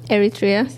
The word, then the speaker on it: Eritrea: Eritrea.